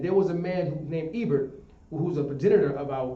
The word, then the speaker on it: Eber: Eber is spelled E-B-E-R, I believe. E-B-R. E-B-E-R. Understand? And later on, you can find it spelled H-E-B-E-R. Eber.